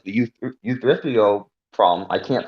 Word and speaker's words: Euthyphro: Otherwise, you get problems like the Euthyphro problem. I can't pronounce that right, but The basically, the Euthyphro dilemma. yeah. That's how you pronounce it.